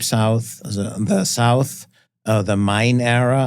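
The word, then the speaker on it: Main: The South uh the mine era I pronounce it mine because it's named after the German river of mine and then we have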